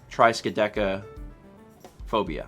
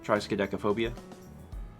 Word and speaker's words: triskaidekaphobia: Triskaidekaphobia. Triskaideka. Oh, it's Deca would be 10. Yeah. So tri is 3 and Deca is 10, which is why it's 13. Triskaidekaphobia. I think that's right. Triskaidekaphobia.